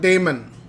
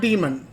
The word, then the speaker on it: daemon: running in the background is called daemon okay not demon demon means evil damon means angel okay so let's take a look here okay so i'm gonna type d-a-e-m-o-n okay d-a-e-m-o and damon